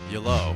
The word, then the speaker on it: Yello: Oh, so it's pronounced like the word hello, except with a Y at the front. Yellow.